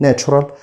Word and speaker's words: natural: The Natural Science Museum يعني متحف العلوم الطبيعية، وقلنا التي يو ار بننطقها زي صوت الشح فنقول Natural Science Museum.